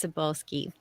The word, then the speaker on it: Cybulskie: medieval yeah and you are asking how to pronounce my last name everyone stumbles over it so don't worry about it it's sabulski and I just want to apologize to